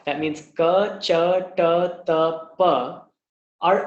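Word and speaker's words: क: Ka, which is a non-aspirated sound, which means there should be no release of the breath. It should be pronounced without anything being felt on your hand.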